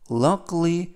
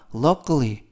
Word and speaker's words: luckily: 있습니다 활용 문장 보시겠습니다 luckly luckly 할 때 아가 무음이라 luckily 아니라 luckly 그리고 이때 K 발음은 보다는 끄 끄 luckly라고 발음하시면 되겠고요 뜻은 다행히도 운해도 피해가